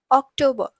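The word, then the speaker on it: Oktober: we have October so October has a see in it in English but in German it has a k and it's pronounced as October then again we have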